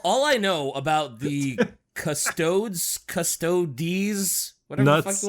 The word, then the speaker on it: Custodes: custos bricky right i i think it's custodies custodies because okay i always said custodes when i saw it because it's like it's spelled kind of funny right it is funny it's c-u-s-t which i can understand why we sound like custodes but i think with the